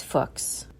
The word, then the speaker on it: Fuchs: solution for English speakers pronounce it to rhyme with books as a college student in Germany Fox had watched the rise